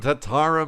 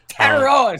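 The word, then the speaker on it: Tetairoa: I like what Ted McMillan Tatara McMillan is doing. Teroa. Say it right.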